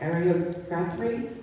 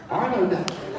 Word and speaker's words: Arlo Guthrie: brightest folk stars, including, I'm not going to pronounce the first one, but Ariel Guthrie? Arlo Guthrie.